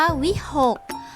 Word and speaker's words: วิหค: เป็น ก็ ไก่ ค่ะ คำ ว่า วิหค คอควาย เป็น ตัว อ่ะ ค่ะ แต่ ออก เสียง ก ไก่ เช่น กัน ค่ะ คำ ว่า เมฆ